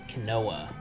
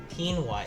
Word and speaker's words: quinoa: spiced salmon and veggie canoa quinoa quinoa sorry guys quinoa is how you're supposed to pronounce that um i've never